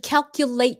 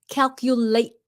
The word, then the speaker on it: calculate: a sentence, you should calculate your savings. Calculate your savings. Okay? You stop the T before it comes out.